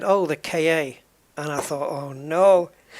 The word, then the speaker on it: Ka: It's a car. It sounds like car.